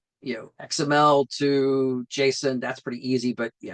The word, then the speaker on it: JSON: And it is JSON, by the way. The guy who created it says that's how it's pronounced, not JSON.